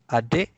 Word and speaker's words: adik: And the K with the glottal stop.